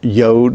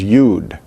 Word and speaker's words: yod: And therefore, some Jewish people pronounce the letter yod as yod, and others pronounce it as yud.